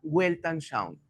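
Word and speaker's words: Weltanschauung: La palabra proviene del alemán, se pronuncia welltan shown, wel nos observa, pero la traducción y bien sencilla es cosmovisión.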